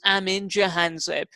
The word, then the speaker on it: Amin Jahanzeb: he's managed white india joy his name is Amin jahanzaib I mean are you doing yeah did I pronounce your name correctly perfect have you had